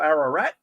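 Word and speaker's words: Ararat: Victoria a little town called Arrow rat it rhymes with arrow rat guys and if you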